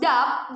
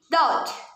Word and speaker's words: doubt: students number one doubt usually this word is pronounced dub by many learners or english users however the correct pronunciation should be dot in fact the son